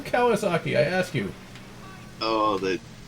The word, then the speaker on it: Kawasaki: the US the newscaster could not pronounce ran rental wall Kawasaki so he pronounced it quagga sake there's not even a G in the name what do you get quartered sake from Kawasaki I ask you oh